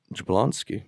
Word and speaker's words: Jablonsky: Shannon and Mark Swift with music by Steve jablonski wow yeah I got it right maybe sounded right jabloni sounds right to you with how it's spelled should point it to me J jablonsky there you go very much starring Jared padaki